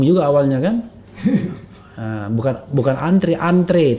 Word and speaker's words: antre: awalnya kan bukan bukan antrian three tulisannya antre terang Tri walaupun kita bacanya antri tapi antre silakan Oke gimana Menurut